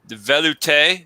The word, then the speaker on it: velouté: The velouté, is that how you say it? Velouté? Velouté, yes.